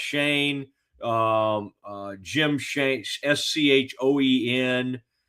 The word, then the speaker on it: Schoen: This guy's name is, it looks like Schoen. I think it's pronounced Shane.